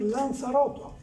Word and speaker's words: Lanzarotto: Dulchert y también que posiblemente la Z se pronuncie como se pronuncia ahora en Canarias, es decir, Lanzaroto.